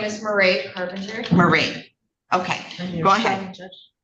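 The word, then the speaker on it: Mairead: My name is Marie Carpenter.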